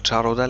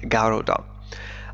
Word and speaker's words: Garuda: قالت شركة النقل carrier شركة نقل الوطنية national الإندونيسية والتي اسمها غارودا، عفوا نطقتها من قبل جارودا لكنها تنطق غارودا، أخبرت شركة بوينغ has